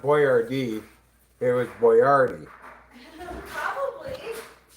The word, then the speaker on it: Boyardee: to spell it phonetically and it still got mispronounced. It It's not Boyardee like I think it's Boyardi. Boyardi. Yeah. Like the actual guy's name was not Boyardee. It was Boyardi.